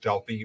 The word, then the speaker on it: Delphi: god Apollo who lived in a town called Delphi or Delphi either pronunciation is okay in Greece and for nine